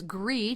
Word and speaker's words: gris: kind of gray and of course gree g r i s is the French word for gray so Pino gree right and just like